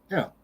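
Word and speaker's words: אל: However, there are some words where it isn't, and you have an eh sound instead, like in El. El is the Lord who is God. One might think that's supposed to be masculine, but it's pronounced El.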